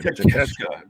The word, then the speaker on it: Takeshita: I'm going to say it so I don't keep mispronouncing this man's name. Takeshita. That doesn't look like Takeshita. No, not even in the slightest.